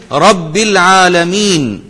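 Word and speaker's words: رب العالمين: वल हमदुलिल्ला रब्बिल आलमी यहां पर रब भी रा आप थोड़ा मोटा पढ़ेंगे एक दफा फिर पढ़ लेते हैं वल हमदुलिल्ला रब्बिल आलमीन और तमाम तारीफें पर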